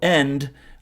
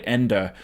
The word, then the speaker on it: Ende: kind of funny that his name is michael end uh but this is supposed to be the never ending story although michael and and is german so it's probably pronounced that way ender um anyways take a